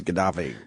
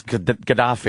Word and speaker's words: Gaddafi: It's a sound. It's just a sound that's Gaddafi. made. It's Gaddafi. Gaddafi. And with English spelling, you could spell it numerous ways based on the sound. Is it a K? Is it a G?